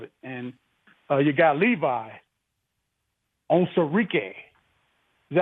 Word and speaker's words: Onwuzurike: And you got Levi Onwuzurike.